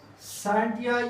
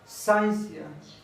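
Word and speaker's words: scientia: साइंस का जो word है ये लैटिन वर्ड है, लैटिन वर्ड साइंटिया या साइंसिया, ठीक है। प्रोनाउंसिएशन में फर्क होते हैं, कुछ लोग इसको साइंटिया पढ़ते हैं और कुछ लोग इसको साइंसिया। ये लैटिन वर्ड है।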